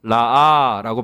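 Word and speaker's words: רָאָה: 여기서 되돌아보다라고 해당되는 히브리어 발음을 한다면 라아라고 발음할 수 있는데요.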